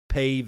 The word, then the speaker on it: Pave: Pave is spelled P-A-V-E, as in pave it with asphalt.